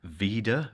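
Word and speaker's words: VIDAA: stand on you basically download an app called Veda V it's spelled v-i-d-a-a it's basically just a way to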